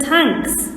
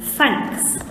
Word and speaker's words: thanks: i said tanks tanks pooh realized that he had a problem with his pronunciation and that he was indeed saying thanks instead of thanks he pushed his tongue forward and spoke again thanks the little boy walked